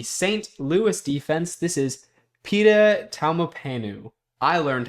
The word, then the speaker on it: Pita Taumapanu: This is Pita Taumapanu. I learned how to pronounce his name, of the St.